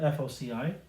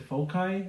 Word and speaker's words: foci: So the top focus, so plural for focus, by the way, is foci, spelled F-O-C-I. Some people pronounce it foci. As it turns out, both pronunciations are acceptable. It's kind of like tomato, tomato. But I say foci. I'm just used to that.